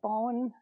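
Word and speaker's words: Bohin: This is that bone.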